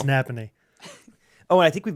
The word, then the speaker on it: Napanee: It's Napanee. Oh, and I think we've been pronouncing it wrong. Everyone around there was putting the emphasis at the end of the word. Napanee? Yeah. Like Napa know-how.